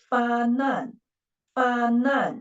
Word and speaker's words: 发难: There is no syllable dividing mark, so the second syllable should begin with the initial. So it is 发难, right?